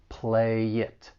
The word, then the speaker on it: play it: And when it comes to pronouncing this phrase, there's also some linking going on. The final consonant sound in play can get linked with the vowel sound in it. Play it.